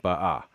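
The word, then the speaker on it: באה: But notice I have ba'a with the stress on the final syllable.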